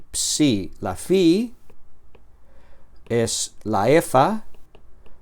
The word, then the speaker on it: psi: Y entonces esta penúltima palabra psi psi se pronuncia como Pepsi, como la combinación de letras al final de la palabra Pepsi, que es una una bebida.